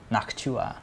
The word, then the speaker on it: Noctua: is saying it's pronounced it's pronounced locked knock Chu uh Noctua not Chua noctua cool ok helpful yeah